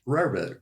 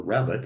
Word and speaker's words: rarebit: Welsh rarebit, or rabbit as it's sometimes pronounced for the less cultured, is a food made up of what 2 items?